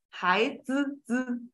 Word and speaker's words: 孩子: 孩子孩子子孩子 The I is a silent, a bit quiet, a bit silent.